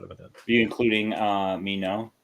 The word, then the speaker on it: Minot: been doing including uh Mino is that how you say it mean no Air Force yeah yes because I was I know I was I was Air Force Roxy and Minot was where they threatened